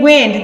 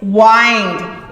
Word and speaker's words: wind: see the difference okay wind that means air blowing at us the other one is wind it goes in a circular motion they are spelled the